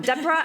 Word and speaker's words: Debra: No, I'm Debra as in zebra, and that is what I am.